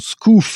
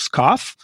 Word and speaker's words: scoff: For example, scoof instead of scoff, Simmons instead of Simmons.